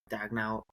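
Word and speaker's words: Daigneault: H I mean you can you can go Mark Mark Dnot right is how you say it for the Thunder Dagnau.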